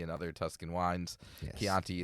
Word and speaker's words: Chianti: Yes, Chianti is a yes. word that has a k sound spelt with a ch.